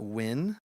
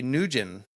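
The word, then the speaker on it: Nguyen: friends always told me if your name is spelled ng u y en you're either you either call it win that's what I learned in in middle school or you say newgen whatever they doesn't make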